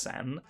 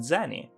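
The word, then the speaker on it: 銭: not exactly correct because it is true that the kanji can be pronounced sen but that indicates a specific currency that wasn't used until 1873 and just means sent a fraction of a yen during sakura's time period that word just meant something like spare change and was instead pronounced zenny small coins made out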